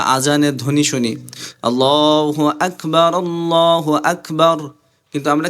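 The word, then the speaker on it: أكبر: যায় গুনাহ হয় কিন্তু সহি শুদ্ধ ভাবে উচ্চারণ কিভাবে হবে আকবার আক হালকা বাতাস বের হবে আক যখন আপনি জজম বা সাকিন দিয়ে পড়বেন তখন আপনার বাতাস হালকা বের হবে অর্থাৎ চাপ দেওয়ার পরে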